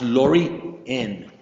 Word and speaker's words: Lorien: know that huh so her first name is pronounced Lorien laoren uh astrology Cancer Sun cancer Sun Taurus